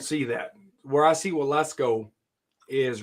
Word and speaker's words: Waletzko: It sounds like Wall Let's Go, but it's Waletzko. Oh, okay.